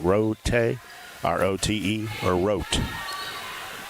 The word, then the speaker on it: Rote: Rote, R-O-T-E, or Rote. They just say wrote. Probably. Wrote without the W on the front.